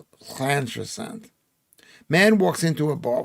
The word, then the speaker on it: Llantrisant: Llantrisant, the LL is pronounced Llantrisant.